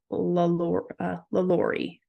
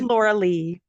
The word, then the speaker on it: LaLaurie: So was I saying something different than LaLaurie when I said the mansion? What was I saying? I think I was saying it wrong. Anyways, the correct name of it was the LaLaurie mansion. Right. I think it's because I read it so many times. You said Laura Lee.